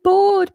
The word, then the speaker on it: bored: time they go I'm bored mom um but I brought this up mostly because of the pronunciation B so we just have that long o we don't add the a sound in there bored bored hopefully you're